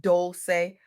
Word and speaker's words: Dolce: I'm your host, Dolce, pronounced doulce, like sweet softness whispered in French.